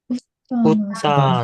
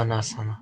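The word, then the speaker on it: उत्तानासन: 이게 T가 두 개 합쳐져 있는 단어입니다. T가 두 개. 그래서 요거는 지금, 이게 그 발음 때문에 어떻게 해서, 원래는 이게 따잖아요. 그런데 두 개 합쳐져서 요렇게 된 겁니다. 그래서 웃다가 아니고 웃다나사나 되는 거죠.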